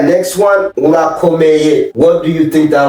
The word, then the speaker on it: Urakomeye: Is it ora or ola? Ura. You gotta roll your R. Say it one more time. Urakomeye. Ora. Ooh. Ura. Yeah. Ula. No, not la. You gotta. There's like a thick R or deep.